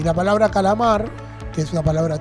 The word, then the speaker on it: calamar: en sílaba c laar dónde suena fuerte en la sílaba o el fonema mar Ese mar sería la sílaba tónica la atona sería las